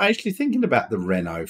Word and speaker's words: Renault: Renault or if you want to pronounce it properly Renault have just released in